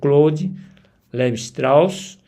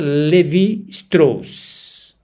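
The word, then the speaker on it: Lévi-Strauss: influenciou a psicanálise, especialmente através das figuras como Clou Levraus e sua abordagem. a análise estrutural das narrativas e mitos em contextos clínicos. Apenas um minut eh recuperando a a pronúncia Levi Strs, sua abordagem, análise estrutural das narrativas e mitos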